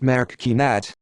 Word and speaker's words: Marocchinate: Marocchinate, pronounced Marocchinate, Italian for Moroccan's deeds, is a term applied